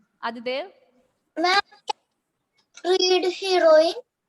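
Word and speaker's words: héroïne: The French pronunciation itself. Noel, then heroine.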